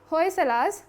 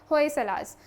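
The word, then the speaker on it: Hoysalas: Sacred एनसेम्बल्स ऑफ दी होयसलास Karnataka. इसके pronunciation के लिए क्लियर रहेगा, कुछ लोग इसको होयसाला पढ़ते हैं, कोई लोग होयसला पढ़ते हैं, बट एक्चुअल जो प्रोनाउंसिएशन है वो क्या होगा यहाँ से, होयसलास।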